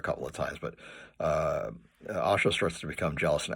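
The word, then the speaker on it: Ayesha: I know it's pronounced it's spelled A S H A and in British pronunciation they would say Aisha, but uh Haggard himself says it's an Arabic name and it should be pronounced Asha.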